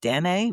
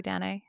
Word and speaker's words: Danae: Danae Danae racemosa, and so that's Danae, and I saw a couple of different pronunciations from that, but I go with Danae. What do Yeah, you I guys think do? probably Dene.